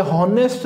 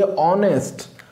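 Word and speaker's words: honest: Then देखिए ये क्या है, ये हॉनेस्ट नहीं है, ये ऑनेस्ट, ओके, इसीलिए आएगा आन। ये एच यहाँ पर साइलेंट है, ओके, ये एच साइलेंट होगा।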